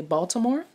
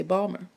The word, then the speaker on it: Baltimore: So people in Maryland, or that don't live in Maryland, might say Baltimore, while people in Maryland will say Balmer. That's spelled, it's said as if it were spelled Bawlmer, Balmer.